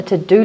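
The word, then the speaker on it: Teux Deux: Use a to-do list app. One that is one of my favorites is called To Do, but it's spelled T-E-U-X-D-E-U-X, which is actually French.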